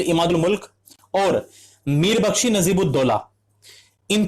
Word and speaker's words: इमादुल मुल्क: में बादशाह आलमगीर द्वितीय, वजीर इमाउद मुल्क, फिर वापस मैंने गलत प्रोनाउंसिएशन की, ठीक है, वजीर इमादुल मुल्क और मीर बख्शी नजीबुद्दौला,